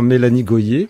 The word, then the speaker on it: Mélanie Gohier: Donc voilà, le décor était placé et c'est là qu'entre en jeu Mélanie Goyer. Bienvenue sur Intensément Mélanie Goyer, si c'est comme ça que ça se prononce.